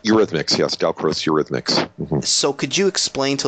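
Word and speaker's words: Eurhythmics: me if I'm pronouncing this wrong but it's Ur rithmic am I saying that right Ur rhythmics yes delro Ur rhythmics So could you explain to listeners what that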